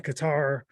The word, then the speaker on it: Qatar: too hot and uh in qatar or a cutter as some people pronounce it out i'm a qatar guy